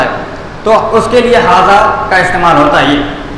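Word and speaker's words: هذا: حاجہ یہ غلط ہے، حاجہ نہیں بلکہ حاذا.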